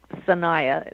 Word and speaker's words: Sanaya: Sanaya is S-A-N-A-Y-A.